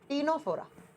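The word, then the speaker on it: Ctenophora: number पर आएगा Nora लिखा सी से प्रोनाउंस किया जाएगा टी से टीनो फोरा सेम नाम हिंदी में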